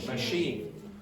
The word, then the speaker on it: machine: over here Chiefs and the French pronounce this word like what but this is pronounced like an English way so we say chief chief this word is pronounced in the French way so how did you